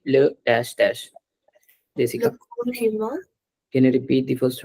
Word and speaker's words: corps humain: Corps humain.